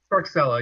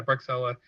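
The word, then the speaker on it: Bruocsella: The Grand Cru, and I don't remember how to pronounce it. It's like Bruschella or something like that. Bruxella, yeah, Bruxella.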